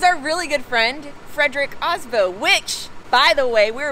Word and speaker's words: Aasbø: Aasbø is not how you say his name. The real name is Aasbø.